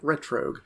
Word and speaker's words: Retrogue: plug yeah team retr it's spelled as if you combine retro like retro game with Rogue is in Rogue like ret Rogue I also would like